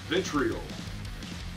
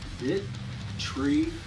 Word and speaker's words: Vitriol: proper way to say our band name is Vitriol. Vitriol. What's up, y'all? The way you pronounce our name is Ghost.